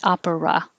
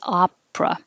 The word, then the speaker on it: opera: But the word opera looks like 3 syllables, but we don't say opera. We drop the middle one and say opera.